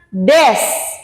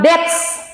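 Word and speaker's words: です: Kemudian des. Bukan dets. Des.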